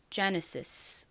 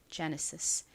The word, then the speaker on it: Genesis: 가지고 이렇게 이름을 붙였다고 합니다이 단어 미국식 영어 발음으로는 Genesis 와 같이 발음이 됩니다 Genesis 앞부분의 강세를 딱 주셔야 돼요 따라해 보세요 Genesis